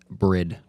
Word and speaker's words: Bride: how you pronounce it it is bread but we say bride but I'm just trying to be a jerk because Johnny's asking so it's bread best seat yeah what's what